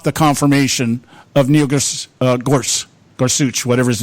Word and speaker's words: Gorsuch: Um they started the confirmation hearing today on Supreme Court Justice nominee Neil Gors I don't know exactly how to pronounce his name. Gorsuch Gorsuch.